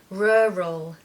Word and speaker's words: rural: need to do is make this very strange and unusual sound which is r r Ural rural the focus and the stress is on the first syllable and you need a schwa in the second part so you need to hear